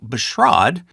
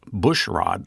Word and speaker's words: Bushrod: Now, Bushrod, which I mistakenly pronounced Bushrod last time, to the amusement of many, is a rare name.